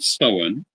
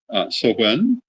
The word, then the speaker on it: Samhain: So the word Samhain is spelled Samhain.